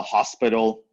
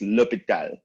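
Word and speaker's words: L'Hôpital: people call it the hospital or hospital or something like that no it's lupita to be fair the translation is hospital but it's not pronounced hospital right so for l'hopital's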